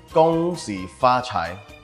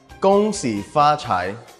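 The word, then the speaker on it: 恭喜发财: The first one is gong xi fa chai. One more time, gong xi fa chai.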